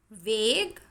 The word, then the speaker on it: vague: Vague, antique. In these two words UE is silent.